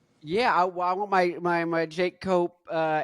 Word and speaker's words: Cope: Yeah, I want my Jake Cope. Is it Cope? Is that how I pronounce it? Yep, cope.